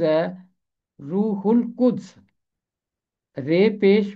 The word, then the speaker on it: روح القدس: کے لام کے ساتھ، کیونکہ الف لام کے بعد قاف حرف قمری ہے، اس لیے لام کی آواز خاموش نہیں رہے گی، ہے ملے گا لام